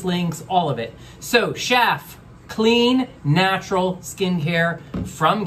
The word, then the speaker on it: Schaf: Canada yes I'm here to talk all about chef and yes it's pronounced chef you see chef rhymes with anyway I posted